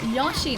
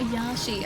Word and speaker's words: Yoshi: No, Yoshi. Not Yashi. I say Yoshi with an O. Not Yashi with an A.